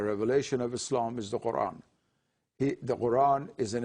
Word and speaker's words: Quran: Arabic pronunciation isan and that sound does not exist in English so it now has been changed to K and the glow stop